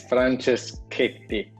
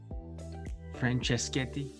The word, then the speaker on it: Franceschetti: today is uh francischetti is that how i pronounce that this is the shiniest part of all the podcasting so did i pronounce your last name correctly there yeah it's frances katie franceschetti yeah that's good all